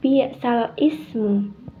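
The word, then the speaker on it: بئس الاسم: pengin membacanya dengan tepat maka cara membacanya balismu berarti itu harakatnya dipindah ke huruf sebelumnya pada yang lam alif itu jadi bacaannya tepat yaitu dengan balismu balismu bukan bisal Ismu Jadi bukan bal Ismu tapi bisalismu balismu jadi sekali lagi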